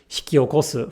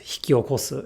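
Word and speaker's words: 引き起こす: Through many years of listening osmosis, so to speak, they come to realize unconsciously that hikiokosu, for example, is pronounced hikiokosu and not hiki-okosu.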